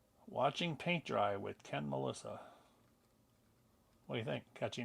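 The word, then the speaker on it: Malysa: M L A M A L Y S A Melissa. The Y is like an I and just pronounced like the girl's name, just spelled differently.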